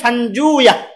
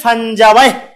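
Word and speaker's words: فنجويه: হ্যাঁ, যেটা হলো সেটা হলো ইবনে ফানজুয়া। আসলে হলো কি হবে? ইবনে ফানজুয়া। এটা আরেকটা উচ্চারণ আছে, ইবনে ফানজাওয়াই, 2 ভাবে উচ্চারণ করা যায়, ইবনে ফানজাওয়াই বা ইবনু ফানজুয়া, রসই অন্তস্থ আকার হবে।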